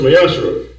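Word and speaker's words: מעשר: It means 10th in Hebrew, and it's pronounced Mayashra.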